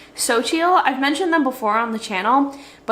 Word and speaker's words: Xochitl: It is pronounced xochitl.